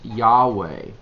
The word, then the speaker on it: Yahweh: D all uppercase um a lot of folks today pronounce this Yahweh uh a lot of